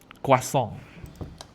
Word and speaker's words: croissant: Ini adalah croissant. Kwasong. Nah, itu cara baca yang benar ya, kwasong.